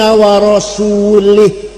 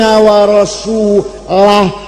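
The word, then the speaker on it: ورسوله: Ada orang baca Quran, wa annallaha bari'um minal musyrikin wa rasulih. Allah tidak melindungi orang musyrik dan tidak melindungi Rasulullah. Salah. Yang benar bacanya wa anna Allah bari'um minal musyrikin wa rasulah, jangan wa rasulih, wa rasulah.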